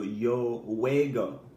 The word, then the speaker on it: juego: of pronouncing him because it's actually it's spelled differently it's Ju eg oh alright the ju e makes a way sound so yo juego yo juego is I